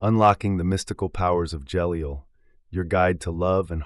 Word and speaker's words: Jeliel: of the 72 cabala Angels who is jeliel jeliel pronounced J L is one of the cherubim known